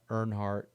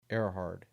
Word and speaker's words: Erhard: Um Paul Surveves, Ricky's brother, Adam Suinowski, James Tibs III, Zack Airhard, not Nhard, Erhard, and then we traded